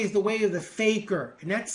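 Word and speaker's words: fakir: And what the four ways are, the first way is the way of the faker and that's spelled f a k i r.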